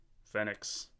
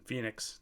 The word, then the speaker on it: Fenix: anyways here you go fenix i mean phoenix damn it i think i heard so many people say fenix it messed up my pronunciation phoenix ld 30